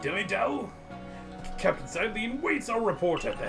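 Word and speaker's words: Cyllene: How are we pronouncing that again? Silene.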